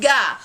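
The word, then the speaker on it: が: is another subject particle called ga now don't be a weird american be like god and say with a really hard g that kind of sounds wrong but kind of with an ng sound to it like nah but not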